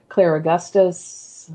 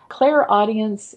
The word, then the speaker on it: clairaudience: We have clairvoyance, which is clear seeing, clairsentience, clear feeling, clairaugustus, which I always pronounce poorly, clear smelling or tasting, claircognizance, clear knowing. Clairaudience is a way of receiving intuitive messages without using the physical ears.